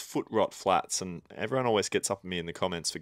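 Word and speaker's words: Footrot Flats: store This was um foot trop flats or is it foot rot I think it's foot rot flats and everyone always gets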